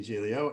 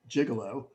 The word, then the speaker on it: Giglio: my name is gialio and um i'm the guy with the unpronounceable speed bump in the middle of my name that makes some of you want to call me gigolo and maybe that has